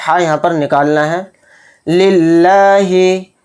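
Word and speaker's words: لله: یہاں پر نکالنا ہے۔ للہ، للہ میں جو لفظ اللہ کا لام ہے اس کو باریک پڑھنا ہے، موٹا نہیں پڑھنا ہے۔ کیوں؟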